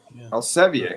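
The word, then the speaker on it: Elsevier: 26 of this year by Eliver or Elsiver is that Elsiver Elvier. Oh, we're going to get French.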